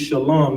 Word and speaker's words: Shalam: Hey, Gerald Williams, it's spelled Shalom, SHALAM. So for future references, it's Shalom, not Shalom. You know what I'm saying? We got to get that right. You understand? No O's in the Hebrew.